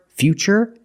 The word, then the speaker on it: future: What's the pronunciation of T? That's right, it's ch, because we see T-U-R-E, we pronounce the T as ch. And we see T-U-R-I in futuristic. Again, the T is pronounced with the ch sound.